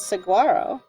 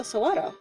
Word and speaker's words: saguaro: people mispronounce it as saguaro but it's a mexican word so sawado no no i know